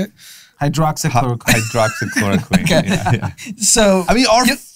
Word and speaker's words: hydroxychloroquine: right now and find doctors who still say hydrochloroquine how do you pronounce it you get better pronouncing that one drama how do you say it hydroxyl hydroxychloroquine yeah so i mean our friend brendan schaub